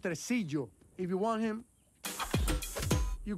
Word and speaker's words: Tresillo: It's pronounced Tresillo.